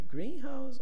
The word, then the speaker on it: greenhouse: difference in the pronunciation in compounds we usually stress the first uh part of the word green in house and